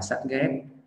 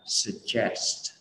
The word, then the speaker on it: suggest: Đó, cho nên là khi mà mình đọc mình hay bị bỏ cái âm s ở cái đuôi st, đọc là sắt ghét. Không phải sắt ghét, mình đâu có ghét sắt, sắt làm gì mình đâu mình ghét, đúng không ạ? Mình nói là suggest, suggest.